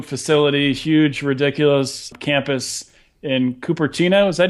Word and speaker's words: Cupertino: It's about Apple building their new facility, huge, ridiculous campus in Cupertino. Is that how you say it? You're from California. That is Cupertino.